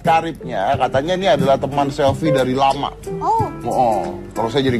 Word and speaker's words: Selvi: Selfie. Itu tulisannya Sylvie. Selfie. Itu tulisannya kalau bahasa Inggris bacanya Sylvie.